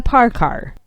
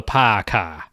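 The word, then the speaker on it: Parccar: proceeded to give it an almost unpronounceable name the parkar that's p-a-r-c-c-a-r technically in boston it would be called the paca the par car took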